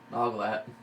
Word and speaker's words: Noglat: Noglat.